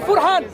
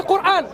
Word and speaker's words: Quran: You think we would say Furhan, but it's actually Quran because you don't read Maghribi script.